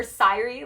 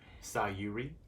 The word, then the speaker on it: Sayuri: People that mispronounce her name call her Sayuri. Or Sayuri, like Kyrie, but Sayuri. Sayuri. Like, close, but not there.